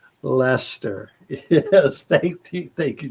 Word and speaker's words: Leicester: show that uh get uh that's that's that's pronounced lester lester yes thank you thank you joseph i knew